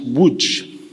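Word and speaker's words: Łódź: about him my father was born in Lodge pronounced Wood on the 15th of September 1925 he was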